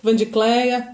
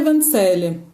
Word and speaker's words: Vandicélia: Então eu já sei que sou eu, porque as pessoas começam Vani, Van, Vandi, Vandicleia, Vandineia, e nunca sai Vandicélia.